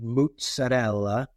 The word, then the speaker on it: mozzarella: Learn to say mozzarella. It's not mozzarella. I know you say, Johnny. It's not ricotta. It's ricotta. No, pronunciation isn't important.